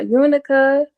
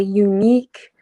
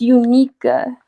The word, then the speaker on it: Unica: yeah, Unica, or they say unique. They don't really get it right, but yeah, it's Unica.